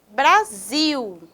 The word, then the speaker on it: Brasil: Próxima palavra, Brasil, Brasil. O zil é a sílaba tônica, a sílaba mais forte.